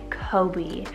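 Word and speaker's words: Koby: Then we have Kobe, spelled K-O-B-Y, Kobe.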